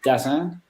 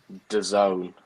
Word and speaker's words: DAZN: Is it Dazan? Dazan? I'm going to go DAZN from what I've heard on the boxing, but I cannot.